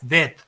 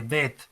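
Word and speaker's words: בית: La segunda es Bet, casi cortada la T, Bet, ¿sí?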